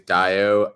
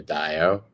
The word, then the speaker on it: Dayo: um my name is daiyo um you can pronounce my first name like uh cinco de mayo with the d i'm cinco de dayo i am the co-founder